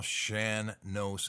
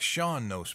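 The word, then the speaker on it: Shan Nós: be the old style Shan knows song now you know it looks like Sean knows maybe but no it's shan knows and you know i've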